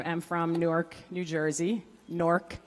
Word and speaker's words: Newark: from Newark New Jersey NORC for those of us from the area that's n o RK if you didn't understand the pronunciation that's how we pronounce it anyway what that means